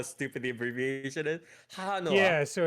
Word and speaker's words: Hahanoha: Yeah, because it's like they use it as HA in the romanization, but you can also do it WA. But it's like HAHANOHA is actually the abbreviation, and you pronounce it Hahanoha.